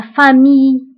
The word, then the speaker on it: famille: فبالنسبة لا famille كنكتبوها بدوزيل ولكن ما كنطقوهمش، كنقولوا la famille.